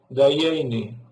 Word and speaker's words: Dayenu: Allá, en vez de decir Dayenu, los judíos la U la dicen I. Entonces decían Dayeni.